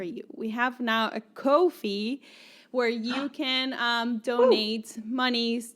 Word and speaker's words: Ko-fi: So you can go to Ko-fi, which is spelled Ko-fi.